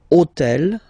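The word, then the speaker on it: hôtel: took on purpose this otel okay because it starts with Ash but remember that in French we don't pronounce Ash okay so basically the first sound of the word is the vowel O Okay so for the same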